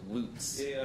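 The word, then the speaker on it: Lutz: in Florida uh loots uh spelled l-u-t-z pronounced loose near Ybor City yeah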